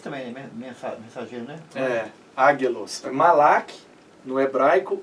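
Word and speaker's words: מלאך: É Malak, mas a pronúncia é gutural, né? Malach.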